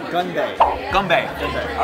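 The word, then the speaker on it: 건배: So it's Gunbae.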